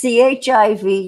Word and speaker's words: chiv: Well, except it's CHIV, yeah, but pronounced the same.